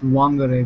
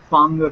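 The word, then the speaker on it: Whangārei: first of all John it's not pronounced Wanger because apparently the W is silent it's pronounced fanger and I'm I've been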